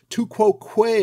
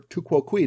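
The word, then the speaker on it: tu quoque: fallacious argument it's the two quo Quay argument or to ququ depending on how you like to pronounce it the how dare you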